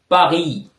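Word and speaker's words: Paris: இன்னொன்று பார்த்தீங்கன்னா நாங்க வந்து பரிஸ் பரிஸ் நாகரத்தை வந்து நாங்க பிரண்ட்ஸ்ல வந்து பகி என்று சொல்லணும் பகி ஓகே அந்த கடைசி எஸ் வந்து உச்சரிப்பு கிடையாது ஓகே அடுத்த கேள்வியை பார்ப்போம்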